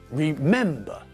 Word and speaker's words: remember: Remember has got three syllables, but again, the stress is not at the end of the word, but in the middle. Remember.